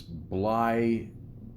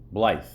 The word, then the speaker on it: Blythe: I don't know how to pronounce this. Blithy. Blithy? Is that it? Blythe. Blithy. Blythe.